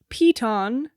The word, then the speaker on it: piton: It's pronounced peton in UK English.